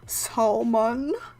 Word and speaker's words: salmon: Salmon, I don't pronounce the L. I don't think anyone accentuates the L, like salmon.